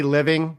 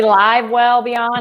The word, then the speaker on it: Live Well Beyond: Oh, did I say living? It's okay. It's all right. I've had people say Live Well Beyond.